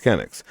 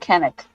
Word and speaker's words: Canuck: to call themselves the Canucks. The most famous is the Vancouver hockey team, but the rugby national team is also called the Canucks. Since sport is very much an activity. Canuck, not Kennick.